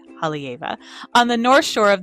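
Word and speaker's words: Haleiwa: Up in Hava, which is spelled H A L E I W A but said Hava.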